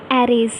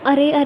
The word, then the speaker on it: array: तो नाउ वी are discussing the topic एरेज। कई बच्चे क्या करते हैं, एरेज को गलत प्रोनाउंस करते हैं, वो अरे कहते हैं। अरे नहीं, इसे हम एरे कहते हैं।